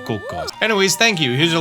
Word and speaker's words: Cuccos: By the way, that is actually the proper pronunciation of Cuccos. It's based off of Italian.